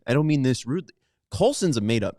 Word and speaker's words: Colson: You said Colston, like love. Oh, see, I'm still embarrassed. World. It's Colson, okay. No, it makes Montgomery. sense because they're in a way. I don't mean this rudely. Colson's a made up name.